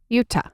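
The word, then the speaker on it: Jutta: What would Nina and Yuta, is that how you pronounce her name? Yuta.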